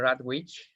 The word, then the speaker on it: Rawitsch: with us peter peter radwich am i pronouncing your surname well that's excellent thank you and we